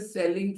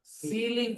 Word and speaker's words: ceiling: A lot of people call it a selling fan. selling fan. No, it is a ceiling fan. Look at the spelling of ceiling, everyone. C E I L I.